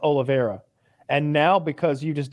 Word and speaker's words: Oliveira: did the same thing well cowboy oliveira it's pronounced oliveira and now because you just did this to